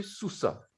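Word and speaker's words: סוסה: La lettre he qui est muette, donc celle-là, elle est muette, mais on va prononcer sous ça. On ne va pas dire sous ça ou quelque chose comme ça, quoi, sous ça.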